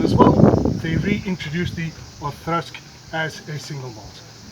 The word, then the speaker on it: Auchroisk: I know it's written Whisky or whatever, but it is pronounced Auchroisk.